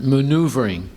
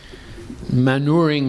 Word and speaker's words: maneuvering: That's pronounced maneuvering. Manuring is, you put manure on the ground.